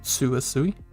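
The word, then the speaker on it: つ: for ta was to sounds like two but the t and s are together so it's and then like tsu i learned that sue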